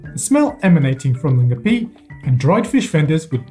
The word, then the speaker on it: Ngapi: Ladies and gentlemen, I present to you Ngapi. This ingredient, spelt Ngapi in English, is pronounced Ngapi in Burmese.